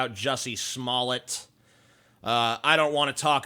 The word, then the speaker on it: Smollett: to make one more jussie Smollett video and you know of course some people say his name is pronounced male no it's not it's pronounced Smollett even if even if it is pronounced male